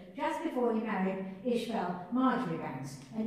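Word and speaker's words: Marjoribanks: And he laid the foundation stone just before he married Ishmael Marjorie Banks. And he was Marsh Banks. Is that how you pronounce it? Mm-hmm.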